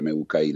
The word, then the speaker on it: Mookie: Aparte Muki, por supuesto en castellano se escribiría MUKI o MUKI latina, MUKY, sí. Pero como es el origen del nombre es en inglés, se escribe con dos O, que se escucha U, ¿no?